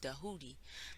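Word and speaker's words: Djehuti: that we're taught by tahuti or as we properly actually spell it with a d it's like DJ pronounced in a way of dahudi that's also known as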